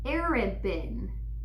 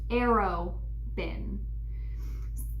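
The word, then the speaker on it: Arobynn: urban open it's pregnant it looks like arid bin but it's pronounced arrow bin Darrell likes to make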